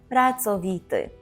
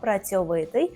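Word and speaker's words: pracowity: це дуже витий народ працовіти так Зверніть увагу що ми кажемо тверде цо вимовляємо працовіти так ні в якому разі не пом'якшуємо це українською цьо працьовитий а польською цо працовіти на позір так На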